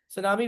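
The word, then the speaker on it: tsunami: सुनामी basically English का word है जो हमने उर्दू में कॉपी कर लिया है। तो टी इसमें साइलेंट होता है।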